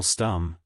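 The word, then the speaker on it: Stumm: grin why it's Colonel stum he cried he pronounced it like the first syllable in stomach very pleased to meet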